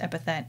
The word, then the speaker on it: epithet: oh it doesn't mean oh it is pronounced epithet oh my god epithet what